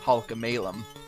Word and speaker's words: Halkomelem: It is actually, the English pronunciation of the language is Halkomelem.